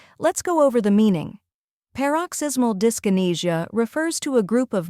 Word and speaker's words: Paroxysmal Dyskinesia: tackling a medical term that many find difficult paroxysmal discinesia by the end of this video you'll pronounce it effortlessly let's break it down step